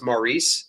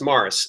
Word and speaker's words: Mars: uh but anyway I I used to think his name was Maurice and uh that's way it's spelled it's actually just Mars uh Mars are Cravens